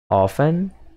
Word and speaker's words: often: Often. Often. Como se diz? Frequentemente. Often. Aqui, a palavra often, você não precisa pronunciar a letra T.